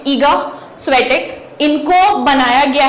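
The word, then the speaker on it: Iga Świątek: Again proper noun उनका जो country में कुछ अलग प्रोनाउंसिएशन होता है तो it could be different, but एज फार एज I know it's Eega स्वेटिक।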